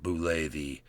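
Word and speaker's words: Bulette: Pronounced Boule. It's right there for those who ever wondered and weren't sure.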